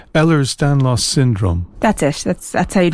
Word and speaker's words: Ehlers-Danlos: a condition known, and help me if I pronounce this wrong, Ehlers-Danlos syndrome.